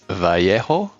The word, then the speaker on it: Vallejo: Cuz I know we say it differently, but it's Vjo if I'm not mistaken. Vjo. You say it like Y sound with the two L's.